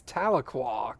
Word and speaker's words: Tahlequah: don't hit a shark Asian but yeah that's Tahlequah come on guys it's not that hard don't